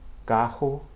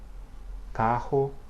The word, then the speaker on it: carro: The letter double R, or the spelling sequence double R, only appears between vowels in the interior parts of words and has a similar pronunciation to the English H, okay?